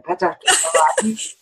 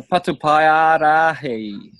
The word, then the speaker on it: Patupaiarahi: I don't ever say it right, Ben. Petaparahi. Okay. Oh, the Patupaiarahi.